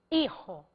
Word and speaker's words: hijo: Então eu quero falar padre e hijo. O fonema de Y é I. O fonema de HI é I, porque o H é mudo foneticamente em espanhol.